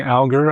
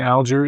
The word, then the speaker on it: Alger: A family member said it was Alger. Alger. And I never know how it's going to come out of my mouth. I mean, just because they say it Alger now doesn't mean they said it Alger back then.